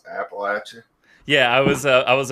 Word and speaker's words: Appalachia: learned one thing today and it's how to pronounce Appalachian yeah I was I was about to call